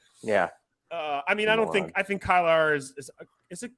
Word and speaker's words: Kyler: I mean, I think Kyler is it you say Kyler or Kylar? Kyler. Kyler.